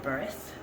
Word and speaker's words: breath: use that pronunciation of the word breath b-r-e-a-t-h not b-r-e-f which is really silly